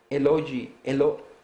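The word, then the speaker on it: Elohe: Y saben, esta palabra se pronuncia Eloji, Eloji, déjenme ver, Eloji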